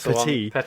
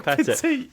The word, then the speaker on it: Pettit: In Matt's defence, this is because we sometimes get emails from Mike Pettit, who we've used to pronounce Mike Petit, which he corrected us. It's actually Pettit.